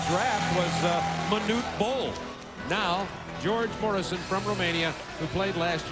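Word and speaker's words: Gheorghe Mureșan: George Morrison, I understand, is how he pronounces his name, from Romania, played in France this year.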